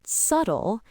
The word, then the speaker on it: subtle: It's not subtle, it's s. The second syllable, tull, is unstressed. It's quick, soft, and at a lower pitch. So, what is going on with that silent B? Why is it there if we don't say it?